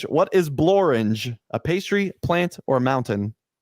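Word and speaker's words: Blorenge: is it a mountain one of the few words that rhymes with orange what is bloringe a pastry plant or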